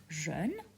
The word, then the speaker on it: jeune: Don't confuse it with the color jaune, okay? There's a difference between jaune, which means yellow, and jeune which means young. Jaune, jeune.